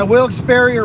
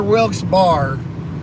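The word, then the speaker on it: Wilkes-Barre: know more about it than I do yeah Wilkes barrier Wilkes bar it's just funny how there's multiple ways to pronounce cities I'm scared of roller coaster too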